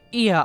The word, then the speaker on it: Ea: When the vibration of local folds was still required to convey our thoughts and intention, Ia, I believe, was the pronunciation used when referring to our people.